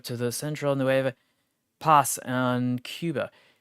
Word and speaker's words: Cuba: In August of 1912, Baldwin delivered a small 240 tender locomotive to the central pass on Cuba or Kuba if we want to be more correct with pronunciation.